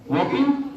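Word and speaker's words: walk: तो डब्ल्यू ए के वॉक को हम वॉक करते हैं, एल को छोड़ देते हैं, एल साइलेंट हो जाता है।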